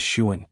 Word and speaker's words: Xian: So Xian and Old Man Tian Xian is Shuan, kinda.